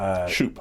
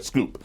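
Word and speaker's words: Schoep: You had a conversation from an accidental courtesy with a guy named, I'm not sure how you pronounce it, Jeff Shoop. Shoop? I'm sorry, Scoop. He pronounces Scoop.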